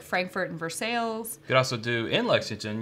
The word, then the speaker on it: Versailles: know we don't take kindly to people who pronounces Versailles you can say that but good luck yeah it's Versailles okay Versailles sorry but if you come here